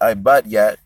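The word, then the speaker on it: עבטיט: in the Hebrew, well, how you pronounce it in the Hebrew is ibadyat, and it means heavy debt.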